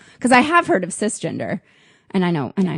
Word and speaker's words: cisgender: You pronounce the hard C, so it'd be kiss gender.